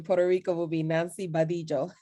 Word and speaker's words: Badillo: adelio but i know in puerto rico you pronounce it differently yes um in puerto rico will be nancy badillo right now right though as well so i